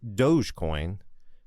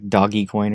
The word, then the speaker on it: Dogecoin: And good on you for calling it Dogecoin and not Doggycoin or something like that.